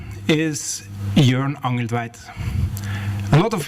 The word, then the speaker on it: Jørn: okay is pronounced okay as in the english word turn for something easy to remember right and please don't